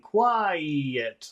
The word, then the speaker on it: quiet: Because if you don't separate those two syllables, it will always sound like number one.